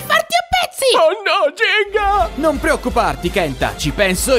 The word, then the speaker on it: Gingka: te Jing jinga aspetta si pronuncia jinga la Ka è muta quello che è è